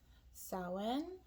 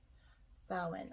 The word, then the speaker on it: Samhain: So it looks like Sam Hain. It's the way I used to pronounce it before I realized it was pronounced Samhain.